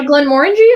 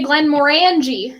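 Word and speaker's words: Glenmorangie: on the scotch uh Glenn Warren G I think you said it right yes just don't say Glenn moranji and you're good I didn't I didn't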